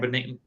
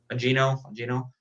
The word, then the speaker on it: Bongino: In this issue, in this particular, like Dan Beningo, I think that's how you pronounce his name. Bongino. You're not the first person to butcher that name.